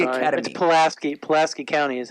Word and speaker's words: Pulaski: poleski o + ki plus T at Pulaski Pulaski County is how it's pronounced okay then it's blue tennis Pulaski Academy